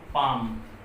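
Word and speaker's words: palm: Sorry इन से पहले, तो एल के बाद, मतलब एल के बाद अगर एम एफ के या डी आया हो तो एल साइलेंट रहता है। जैसे एग्जांपल हम देते हैं, देख लेंगे इसका। तो पाम, ये पी ए एल एम, एल के बाद एम आया है, यही कह रहा है कि एम एफ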